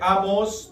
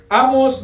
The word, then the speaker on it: Amós: Amos 9:11. Vamos a leerlo hasta el 17, hasta el final. Amos. Amén. Amos 911. Amén. Amos 911. Porque tiene el acento en la O.